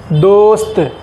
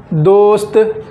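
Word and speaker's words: دوست: अब देखिए पूरा स्पेलिंग क्या होगा इसका, दाल वाव पेश दो, सीन साकिन, ते मौकूफ़, दोस्त। फिर बोलिए एक बार, दाल वाव पेश दो, सीन साकिन, ते मौकूफ़, दोस्त।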